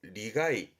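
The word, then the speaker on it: 利害: 그래서 발음이 리가이 땡땡 붙은 가이니까요. 리가이입니다.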